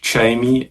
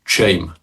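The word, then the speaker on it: Jaime: But you're not calling it Jamie. It's just shame.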